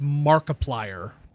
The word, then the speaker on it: Markiplier: Markip I think is it's pronounced Markiplier like Multiplier but with Mark in it.